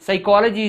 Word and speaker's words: psychology: Psychology is there, P is a silent word, PSYCHOLOGY.